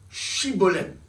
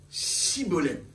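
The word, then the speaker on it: shibboleth: Il lui disait alors, eh bien, dis Shibolem. Et il disait Sibolem. Mais là c'est deux prononciations.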